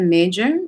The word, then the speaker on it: Meijer: It's a narcissistic abuse documentary, and it is by Aletta Major. It's spelled Aletta, and last name Meijer.